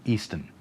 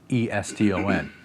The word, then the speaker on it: Eston: I've heard people call him Easton, but it's spelled E-S-T-O-N, so I'm calling him Eston.